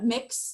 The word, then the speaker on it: Mx: And actually within the last year, mix is how it's pronounced. Just like, I joke, it's like, I'm gonna mix together all these gender things and see what comes out.